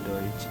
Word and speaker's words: Deutsch: Oh iya Deutsch. Itu bukan nih Belanda. Itu. So tau. Jerman Deutsch anjing. Yang DEUTCH. Heeh.